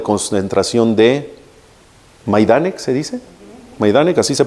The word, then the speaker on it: Majdanek: Majdanek, así se pronuncia.